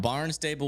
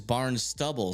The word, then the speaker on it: Barnstable: Somehow you got Barnstable, which is Barn Stubble.